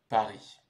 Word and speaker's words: Paris: vivrai plus tard donc en ce qui concerne la prononciation on va dire Paris c'est une ville très